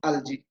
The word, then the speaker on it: algae: The singular form is alga, and algae is the plural form. Algae or algae, both are present. Both can we can pronounce like this.